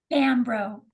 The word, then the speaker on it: Bombrough: So how do we pronounce it? Bam, bro. Bambro. See, okay, I just got to remember Bam. Okay. Yes, Like that's how I Emeril tell Lagasse. everybody. But That's I right. like Bam, bro, because that's like a